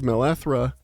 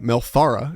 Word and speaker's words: Melthara: However, I'm going to give Melethra, I gotta figure out how to say her name, Melthara, excuse me. I wrote it down, and I keep skipping the Thara part. I just call it Melethra.